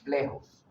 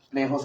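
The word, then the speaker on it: plexos: plejos coroideos o sea se escribe con x pero se pronuncia con j plejos plejos coroideos Cuál es la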